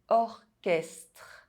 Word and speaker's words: orchestre: However, in some words, CH is pronounced K. Technique, orchestre.